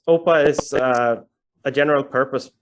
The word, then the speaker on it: OPA: question like first question how is it pronounced how do you how do you say do you say opa or do you say oppa and uh yeah the